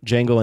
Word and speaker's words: Django: the jungle and chain Django and Chara I know the D is silent my best like the